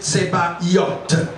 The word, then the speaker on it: Sabaoth: Si pour bien le prononcer, Tsebaïot.